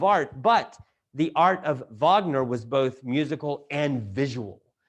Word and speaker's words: Wagner: you've you know who wagner is it's spelled like waggoner but in german it's pronounced wagner this is why the